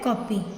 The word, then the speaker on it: कॉपी: ठीक है, तो इसका उच्चारण ना तो पूरा ओ होता है, ठीक है, ना पूरा आ होता है, कॉपी, इसको पढ़ते हैं कॉपी।